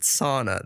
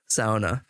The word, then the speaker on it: sauna: tuning in now but they pronounce it sauna there which is just butchering it so I hope everyone now knows you should pronounce it sauna but uh yeah he's